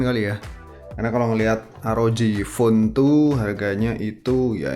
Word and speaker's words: ROG: ada arodj font Tria ini bacanya arloji bukan rok varian RAM yang 8